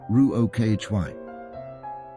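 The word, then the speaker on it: רוחא: And in Aramaic, the language Jesus spoke, it would have been the word ruha, pronounced ruokhy.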